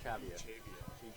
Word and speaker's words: Echavia: How's it pronounced? Echavia. Yeah, that's what it's actually Echavia. Echavia? Yes, Okay. Someone came up into the booth and all right. Clarified that for us. Echavia. Echavia. Long A.